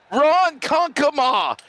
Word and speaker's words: Ronkonkoma: Yeah, I need to learn how to say Ronkonkoma. So there you go. I did it. Thank you. I said it right. Ronkonkoma.